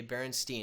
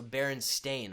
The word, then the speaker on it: Berenstain: that so vividly but apparently it's always been spelled with an A so s-t-a-i-n so Baron stain okay and I dude